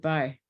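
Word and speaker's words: b'y: You pronounce it "bye." You got to look up the song "I's the Bye," and then you'll hear it. "I's the bye who builds the boat." It's like a short form of boy.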